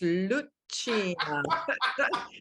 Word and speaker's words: Lucia: This is how it's pronounced. Lucia. Everyone struggles with that name. So think of Santa Lucia.